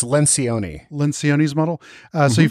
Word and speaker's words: Lencioni: I believe it's Lencioni.